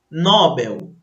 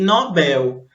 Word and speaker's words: Nobel: Observe aqui que algumas pessoas, elas costumam errar essas palavras aqui, olha só. Por quê? Elas pronunciam como se fosse uma paroxítona, mas na verdade elas são oxítonas.